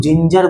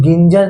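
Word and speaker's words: ginger: इसीलिए यहाँ पे रूल क्या कहता है कि जी का उच्चारण किससे होगा? जॉ से, क्योंकि जी के जस्ट बगल में आई था, इसलिए इसे हम लोग जिंजर बोलेंगे। इसे हम लोग गिंजर नहीं बोलेंगे, उसे क्या बोलेंगे?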